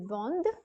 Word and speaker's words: vendent: And lastly, you have il, elles vendent. Il, elles vendent with an ENT ending, and again reminding you that the ENT will remain silent here, and all you have to do is pronounce it as vende.